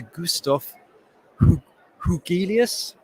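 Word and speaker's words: Gustaf Hugelius: i'm now going to hand you over to gustaf hougheelius from stockholm university thank you very much for that introduction and correct pronunciation of my name so i'm gonna start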